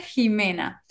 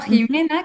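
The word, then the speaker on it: Ximena: Bueno aparent o sea se mantuvo la x con la pronunciación de la J entonces en teoría por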